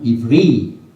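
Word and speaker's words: עברי: 이브리, 발음은 히브리 말로.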